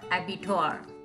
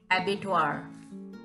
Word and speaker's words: abattoir: So this is the word abattoir, A-B-A-T-T-O-I-R, abattoir, abattoir.